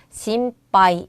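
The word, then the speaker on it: 心配: 자, 마음심자는 우리가 심이라고 읽죠. 그 뒤에 있는 애는 하이인데 음이라는 발음 뒤에 하행이 왔으니까 반타금을 붙여서 심빠이 이렇게 해 주면 되는 거예요.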